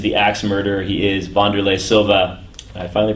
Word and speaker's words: Wanderlei Silva: He is Wanderlei Silva. I finally pronounced his name right.